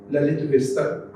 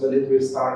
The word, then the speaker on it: ललित विस्तर: है बौद्ध ग्रंथ है ललित विस्तर आमतौर से उसको मिस प्रोनाउंस ललित विस्तार कर दिया जाता है ललित विस्तर मूल रूप से वो ग्रंथ है।